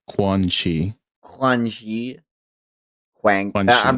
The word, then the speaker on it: Quanxi: if you want to know how to pronounce her name, it's like Quan Chi.